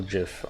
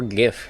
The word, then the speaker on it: GIF: first happened dancing girl jiff on deviantart or gif if you're feeling spicy honestly i don't care you pronounce it dancing girl graphics